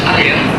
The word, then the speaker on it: air: But in Indonesia, air, we pronounce air.